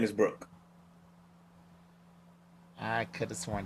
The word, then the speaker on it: Brook: Brooke. Brooke. They were saying Brock.